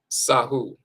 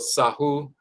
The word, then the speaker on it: Sahu: Sahu, the spirit body. The horizontal bolt is the S sound. This symbol right here is actually the forearm with an open palm like this. That's the Ah sound.